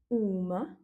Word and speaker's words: uma: Une, uma, avec du coup l'accent tonique sur le U, qui va se prononcer aussi ou, et des, umas.